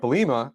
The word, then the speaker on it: Bielema: The Patriots are not the only ones who do this, but But this is something that happened with Brett Bielema, or I'm saying his name right?